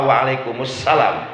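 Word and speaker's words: وعليكم السلام: tangan] Waalaikumsalam ada kalau jawab salam waalaikumsalam apa wa'alaikumussalam jujur Waalaikumsalam ya itu alasannya dihilangkan Coba lihat tulisannya Tulisannya Waalaikumsalam kalau dewasa jadi wa'alaikumussalam jadi di kalimat assalamnya ada alif lam syamsiah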